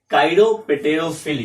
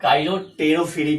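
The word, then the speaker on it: chiropterophily: थोड़ा आसान था काइरोपेटेरोफिली, लेकिन इसको आप काइरोटेरोफिली पढ़ते हैं। क्या पढ़ते हैं भाई? काइरोटेरोफिली। पी साइलेंट रहता है, लेकिन काइरोपेटेरोफिली पढ़ेंगे ना तो स्पेलिंग लिखने में आपको आसानी होगा।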